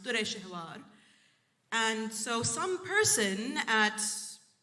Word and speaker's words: Dureshawar: And in that language, you don't have U's and O's, so it was written in how it's pronounced, Dureshawar.